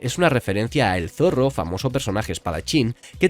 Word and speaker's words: Zoro: demás y se pierde en la versión española su nombre se pronuncia zorro y cómo la costumbre